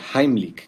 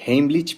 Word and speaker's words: Heimlich: Vamos a ver en este video la maniobra de Heimlich, que por cierto, esa es la pronunciación correcta porque está en alemán. La mayoría dice heich, pero bueno, se entiende de qué se trata.